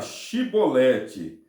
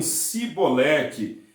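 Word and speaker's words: xibolete: essa palavra a palavra a pronúncia correta era chibolete chibolete que significa espiga de cereal ou também corrente de água correnta mas os efraimitas tinham dificuldade de pronunciar a palavra chibolete eles diziam sibolete era uma característica linguística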